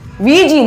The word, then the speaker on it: Ouija: என்னதான் OUIJANU எழுதியிருந்தாலும் இது ஒரு பிரெஞ்சு அண்ட் ஜெர்மன் வேர்டோட மிக்ஸ். விஜின்னு தான் ப்ரொனவுன்ஸ் பண்ணணும். விஜினா ஆமா ஆமான்னு அர்த்தம்.